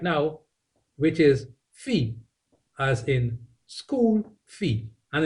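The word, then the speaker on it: phi: the null set and it's pronounced fee as in school fee and then you have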